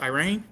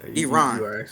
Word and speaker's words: Iran: on those questions so so how is it pronounced Irene no it's how did you say it I Iran oh yeah Iran yeah so okay so the eye is like